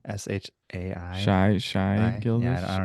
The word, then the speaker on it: Shai: name Shay gilgas Alexander that's all I call s h a i Shai Shai gild call him sh SGA let's